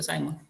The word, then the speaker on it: Simon: la administración, Herbert Simon, se escribe Simón, pero se pronuncia Simon, decía que las decisiones ni son buenas ni son malas.